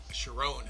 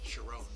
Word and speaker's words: Sharon: Sharon is how his last name's pronounced. Sharon. Give him credit on his birth. Sharon.